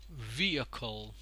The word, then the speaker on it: vehicle: that is pronounced our vehicle vehicle as you can see over here the primary stress is put on the first syllable vehicular he kill LA